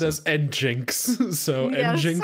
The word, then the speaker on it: nginx: Nginx? Nginx. I'd always heard it said as Nginx.